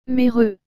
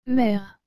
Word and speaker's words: mère: et le mot mère vous avez remarqué que j'ai bien dit mr et non mais re parce que premièrement comme nous l'avons vu précédemment le e à la fin du mot ne se prononcent pas et ensuite le e avec cet accent grave se prononce et ce qui donne mer voici maintenant le deuxième